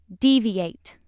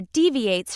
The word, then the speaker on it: deviate: When it is used as a verb, it's pronounced deviate. When it's used as a noun or an adjective, it's pronounced deviate.